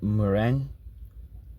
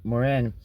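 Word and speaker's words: Mourenx: The negative model of society, the spectacle of daily life was the new city Moren. I guess that's how you say it. M O U E N.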